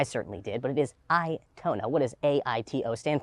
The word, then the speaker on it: AITO: Now, when you first see the name here, you might think it's pronounced Aito. I certainly did, but it is Aito.